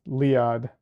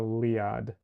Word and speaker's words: Leeahd: My first name is pronounced Liad, in case my mic didn't pick that up well, Liad.